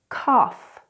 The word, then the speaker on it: cough: But there are other words where this GH is actually an F sound, like in the word cough and laugh.